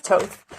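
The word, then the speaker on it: Thoth: Pronounced Toth, also known as Tahuti, is an ancient Egyptian ibis-headed god of writing, divine magic, and the moon.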